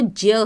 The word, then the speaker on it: ज्ञ: बच्चों इसका जो उच्चारण है वो ज्य है, संस्कृत में ये ज्य होता है, ज्ञ नहीं होता।